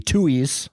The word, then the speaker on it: Tuohys: That the Tuohys, I think that, I forget even if that's how you pronounce it.